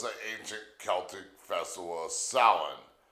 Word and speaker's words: Samhain: Well, before it was ever called Halloween, it was the ancient Celtic festival of salin, pronounced s o w i n.